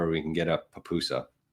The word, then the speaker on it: pupusa: Maybe one day soon we'll get to El Salvador and we can get a papusa. I really butchered the initial pronunciation of that. I said Pup USA.